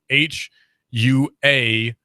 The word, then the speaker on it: Huawei: It's pronounced Xiaomi. The other one is Huawei, which is Huawei.